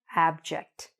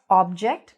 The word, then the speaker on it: abject: Not object, but abject. Okay, there's an A there. There's a short A sound when we say the word abject. Okay, don't be afraid to open your mouth.